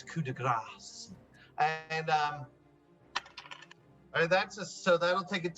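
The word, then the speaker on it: coup de grâce: It's coup de grace, and so that'll take it to a 10.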